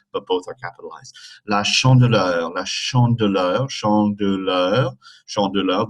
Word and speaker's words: chandeleur: La chandeleur, la chandeleur, chandeleur, chandeleur. The middle E is a E sound like in le.